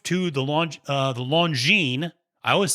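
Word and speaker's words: Longines: horse racing but nonetheless we moved to the longine disc staff so i pronounced it properly so you can trust my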